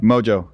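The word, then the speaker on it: Mongeau: yeah how do you say her last name Mojo okay yeah it's a lot of letters Mojo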